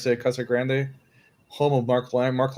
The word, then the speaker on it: Casa Grande: Yeah, it's Casa Grande, but over here they call it Casa Grand.